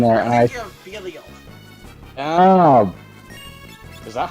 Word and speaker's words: Belial: I remember fighting with some fire boss in there, and I think of Belial. Oh, is that how you say his name? I always thought it was Bale, like Bael.